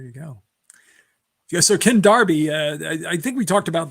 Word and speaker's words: Derby: You know, in in in the UK Derby is pronounced Darby.